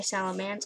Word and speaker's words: Salamence: salamance i don't know it's spelled salamence but i say salamance and i think i